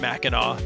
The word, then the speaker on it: Mackinac: planning a trip for the first time to mackinac island michigan for those unfamiliar with this historic destination mackinac island pronounced mackinac but spelled mackinac is a small island that